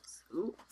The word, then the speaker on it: Seuss: Seuss.